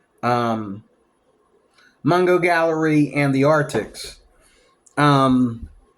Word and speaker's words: Mungyo: Mungyo is actually the pronunciation.